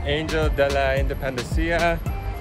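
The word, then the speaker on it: Ángel de la Independencia: We're now walking to Angel de la Independencia, which is one of Mexico City's biggest landmarks.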